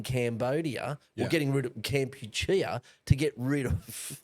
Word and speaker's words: Kampuchea: or getting rid of Kampuchea to get rid of. I always thought it was Kombucha. I've always been pronouncing that wrong.